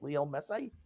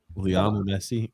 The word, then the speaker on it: Leo Messi: Leo Messi? Leon Messi. Grumpy, you always mispronounce that motherfucker's name.